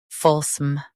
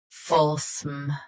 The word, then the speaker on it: fulsome: folsom Both US and UK have the same pronunciation of this word. Stress full. Keep sm soft and quick. folsom folsom Stress full. Keep sm soft and quick.